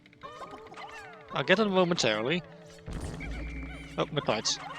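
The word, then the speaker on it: Mitite: Oh, mitees or mite. I'm not sure. Sirius pronounces it as mite.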